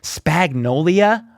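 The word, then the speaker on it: Spagnuolo: Starting with Coach Spagnolia. According to Trent McDuffie's pronunciation, Spags says he isn't going to rush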